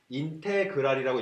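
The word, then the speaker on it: integral: 이건 이제 인테그랄이라고 읽는데요.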